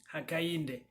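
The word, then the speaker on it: Hakainde: front and you have hakayinde ichilema forgive my pronunciation but it's hishima akainde so he is the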